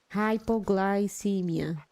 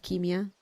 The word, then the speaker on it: hypoglycemia: Soft C hypoglycemia not chemia okay thank you Eric